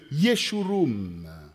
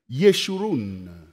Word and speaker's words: Yeshurun: des enseignements, tu deviens le Yeshurum de l'Éternel. Je ne sais pas si j'ai bien prononcé, chérie, en hébreu. Yeshurun.